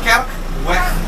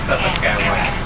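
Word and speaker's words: Kerkweg: Kerk, Orang Jawa. kerk, weh. Nah, Orang Jawa biasanya betul. Karena lidah Jawa Bu, ya. Jadi orang Jawa itu kan makannya gudeg Bu, bukan keju sama susu. Ya. Maka pengucapan kerk, weh tadi itu diubah menjadi kretek kewek. Ya.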